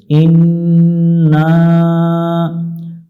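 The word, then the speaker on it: إنّا: করে নিব আল্লাহুম্মা ইন্না ইন গুন্না হবে না টানতে হবে ইন্না আল্লাহুম্মা ইন্না নাসালুকাল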